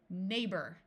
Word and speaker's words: neighbor: And in this word, GH is going to be silent. Neighbor.